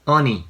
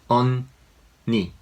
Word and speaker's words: unni: This is not unni. Just pronounce it as 2 different syllables like unni, not unni.